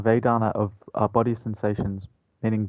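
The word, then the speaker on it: vedanā: uh i think vedana it's pronounced vedana vedana of our body sensations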